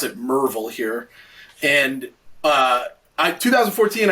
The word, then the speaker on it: Maryville: my little town of maryville tennessee uh they pronounce it mervil here and uh i 2014 i graduate i'm